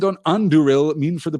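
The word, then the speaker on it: Andúril: It is the stress there falls on the second of the three syllables. Anduril, and I'm not always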